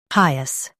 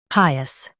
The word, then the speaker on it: pious: Pi, us, PIOUS. Stress pi and keep us light. Pi, us, PIOUS.